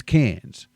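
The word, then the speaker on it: Cairns: The R is silent. It's just vibing there. It's doing absolutely nothing. It's cans.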